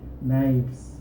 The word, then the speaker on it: knives: Y la V se pronuncia realmente igual que la F, solo que mucho más suave. Entonces por eso es que cambia de F a V. Knife, knives, knives.